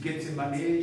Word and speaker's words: Gethsémané: Le jardin de Getsemané la prononciation disent Gsemané.